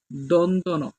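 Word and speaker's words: দন্ত্য ন: দন্তন দন্ত বর্ণ দন্তন অনেকে আমরা এটাকে জিন্তান্য একেক রকম একেকজন একেক রকম উচ্চারণ করি এটার মূল উচ্চারণ হলো দন্তন তো বন্ধুরা উচ্চারণের জন্যও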